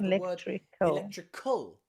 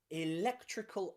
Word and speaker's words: electrical: electricity we also have electrical electrical electrical remember after uh after the letter c if there is an a we pronounce it as a k again so electrical so you've